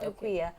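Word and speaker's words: Aquia: But the main reason is I got tired of having to pronounce it the way it's spelled. So I just made it official. So that's my official name now, Equia. And it's spelled A-Q-U-I-A.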